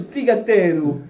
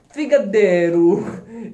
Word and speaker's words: figatellu: Dans le sud de l'île, on le prononce figatello. Dans le nord de l'île, il se prononce figadello.